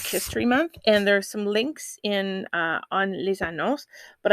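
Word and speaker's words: 林: rest which is pronounced sioux forest which is pronounced lin pond which is also pronounced lin and i'm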